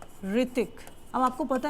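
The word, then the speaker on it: Hrithik: जैसे आवर, ठीक है, ऋतिक। अब आपको पता है ऋतिक रोशन का जो नेम है वो स्टार्ट किससे होता है? एच से होता है, बट वहां पे एच क्या है? साइलेंट है।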